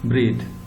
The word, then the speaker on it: breathe: The first one pronounced breathe.